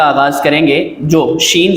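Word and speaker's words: ز: खा से खा, दाल, वाल, वा, रॉ वा, ज़ा सीटी की आवाज़ आनी चाहिए।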